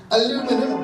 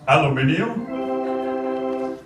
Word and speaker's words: aluminium: i'll blast you with this aluminum debris blaster isn't that pronounced aluminium you're really starting to